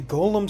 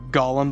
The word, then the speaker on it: Gollum: going to upset the Golem stands oh no the like negative one Golem stands are going to get me I love that you guys have been mispronouncing uh Gollum the entire time like that's just really